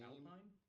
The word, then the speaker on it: Alpine: So Alpine is not the same. Alpine? Alpine. It's French. Okay. It's spelled Alpine, but it's Alpine.